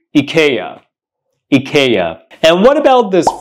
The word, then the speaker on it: IKEA: furniture that it's selling do not say I'm going to Ikea you should say I'm going to Ika Ikea and what about